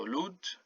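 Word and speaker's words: lód: This O with a dash is pronounced U. So lud.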